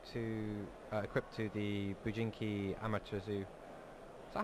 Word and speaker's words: Amaterasu: Yeah, the Rainbow Karibo I think is attached to, equipped to the Bujinki Amaterasu. Is that how you say it? Amaterasu. Amaterasu, sorry. Amaterasu, you got it right. Yeah. Amaterasu.